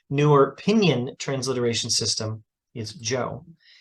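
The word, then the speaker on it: Zhou: but in the newer opinion transliteration system is Joe z h o u now the pinion system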